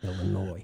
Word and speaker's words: Illinois: in my entire life the s is silent illinois well however you want